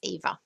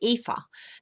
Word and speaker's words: Eva: is there and um oh i say it right eva it's ava my middle name is eva so in fact i say afa that's um that's how the germans would say it so probably a third